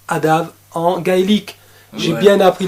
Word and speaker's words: ADAMH: avec 1h à la fin et ça se prononce adam en gaélique j'ai bien appris la leçon voilà